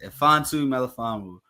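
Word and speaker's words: Melifonwu: yeah roin fantu meanu that's that's how you pronounce it fantu meanu okay fantu melaan Wu he was a third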